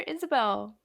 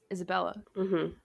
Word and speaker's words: Isabella: please don't but like he says her name wrong he definitely said isabelle but her name's isabella he was also giving